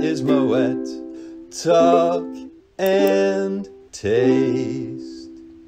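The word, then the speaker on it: Moët: and then you'll be set and the correct pronunciation is moet talk and taste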